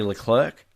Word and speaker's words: Leclerc: out as he said is he said Charlie Leclerc he pronounces it Charles Leclerc oh really yes Wow